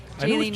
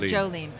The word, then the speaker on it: Jaylene: Jaylene, not Jolene.